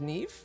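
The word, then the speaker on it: Niamh: So that's pronounced Neve, Fitzgerald?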